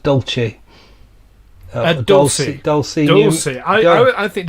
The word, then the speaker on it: Dulce: Dulce. I think Dulce, because that's how it's said Dulce in Latin.